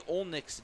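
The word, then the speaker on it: Olejnik: 3-1, was treated with announcing Ty Olnick's name, which is not the easiest thing to pronounce. It is spelled O-L-E-J-N-I-K. And for those who don't know how to pronounce it, might be a challenge.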